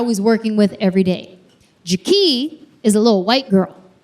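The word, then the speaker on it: Jakee': Not Jackie, Jackie. It's spelled J-A-K-E-E'. Extra. You guys, the apostrophe in her name does not do anything.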